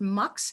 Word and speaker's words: Mx: It's usually pronounced MUX.